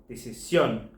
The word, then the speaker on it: decisión: over the O to mark that the last syllable is the one that's stressed. Here's three examples. Conclusion, conclusión. Decision, decisión.